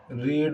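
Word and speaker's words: read: होगा, Harish does not रीड ए lesson. तो अ lesson is नॉट, रीड की बेटा फॉर्म तो तीनों ही रीड रहती है कि प्रोनाउंसिएशन ही रेड हो जाता है, इज नॉट रेड वाई,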